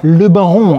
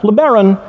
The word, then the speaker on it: LeBaron: But not only that, because this car, the top of the line model, is called LeBaron, which gives it a sense of old world continental Europe, right? Le Baron, it sounds French, much like Riviera or Monte